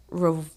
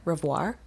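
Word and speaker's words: Revoir: his partner detective Charles rir I hope I'm saying that right it's re v o i r rir yeah we're going to go with it little French pronunciation French they were actually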